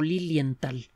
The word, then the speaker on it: Lilienthal: el caso de otto lilienthal que fue otro se escribe o teté o lilienthal suena que se escribe como suena solo que después del arte por esto es una hache y lenta él fue uno de